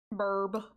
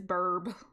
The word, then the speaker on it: BRB: Burb. I love to pronounce BRB as burb. That's what it is a burb.